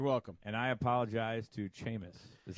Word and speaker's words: Seamus: name Lucy's favorite name although it's pronounced Seamus not CMAs Oh like my name